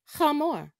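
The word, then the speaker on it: חמור: cow is para para in hebrew donkey is pronounced hamor sheep is pronounced kifsa kevsa in hebrew in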